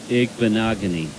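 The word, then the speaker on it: Igbinoghene: James, Noah Igbenogany.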